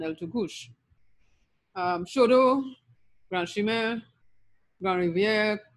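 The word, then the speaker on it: El Tucuche: even like El Tukush, that CH would be pronounced like CH in Spanish. So Chaguaramas, Chaguanas, and El Tukuche would have been the Spanish pronunciations, but the French and Patois speakers gave us Chag, Chaguan, and El Tukush.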